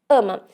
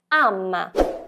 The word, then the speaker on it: ama: pronúncia da letra a a letra A no italiano deve ter um som mais aberto então devemos estar atentos